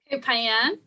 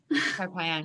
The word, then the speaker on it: Koh Phangan: How do you pronounce that? Koh Phangan. Koh Phangan.